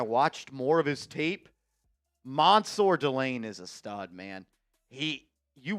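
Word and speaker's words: Mansoor Delane: And it's Mansour Delane. He said pronounce it like there is an O in there. So it's Mansour Delane.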